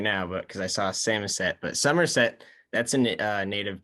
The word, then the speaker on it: Samoset: reasons I like the fact that we have Samoset Road is whenever I'm describing where I live on the telephone, people always mistake it for Somerset. And so I have to respell it and say, no, it's Samosет.